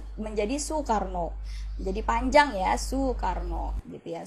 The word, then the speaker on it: Soekarno: Soekarno ini tulisannya suekarno tapi untuk eh cara bacanya menjadi Soekarno jadi panjang ya Soekarno GTA sukaro Nah di